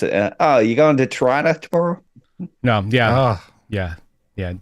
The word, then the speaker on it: Tirana: the Strange New World season finale, somewhere in Tirana. You said it right. Yep. Good for you. I had a drama teacher back in high school that and she said, if I hear any of you pronounce Tirana, you're out of this class.